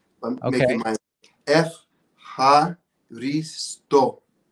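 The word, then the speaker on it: ευχαριστώ: I'm making my F, ha, risto. F, ha, risto. F, ha, risto. Now the question is, where's the accent? You're challenging me. I've been neglecting my Greek. F, ha, risto.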